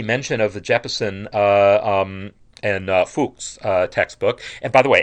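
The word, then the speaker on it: Fux: So this idea, and I see mention of the Jeppesen and Fuchs textbook. And by the way, F-U-X, Fuchs is my best pronunciation of the Latin on that.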